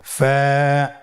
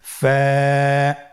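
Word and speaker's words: ف: হরফ আমরা দেখতে পাচ্ছি আপনারা আমার সাথে বলুন ফা কফ কাফ লাম মিম নুন ওয়া হামজা ইয়া ফা হরফটি আপনারা স্ক্রিনে দেখতে পাচ্ছেন ফা হরফটি উচ্চারণের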